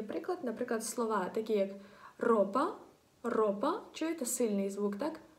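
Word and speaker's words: ropa: Запам'ятайте, якщо R одненька стоїть на початку слова, або якщо всередині слова є дві букви R підряд, і дві букви R підряд, то тоді вона вимовляється сильніше.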